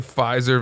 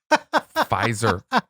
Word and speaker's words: Pfizer: there's also something about a silent p that i just love pfizer you want to say it pfizer but you don't silent p takes a